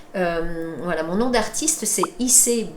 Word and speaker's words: Ise: Voilà, mon nom d'artiste c'est Issei. Issei comme la ville au Japon, ça s'écrit I-S-E.